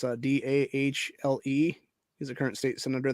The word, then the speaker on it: Dahle: Yeah, Brian Dahle, I think it's how to pronounce his name. It's Dahle.